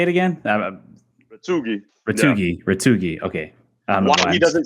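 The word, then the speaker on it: Retegui: Retugi.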